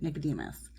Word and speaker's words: Nicodemus: a rosebush on the farm and seek out Nicodemus. That's how you pronounce it. Nicodemus.